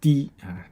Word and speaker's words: 提: Okay, so it's pronounced di, di.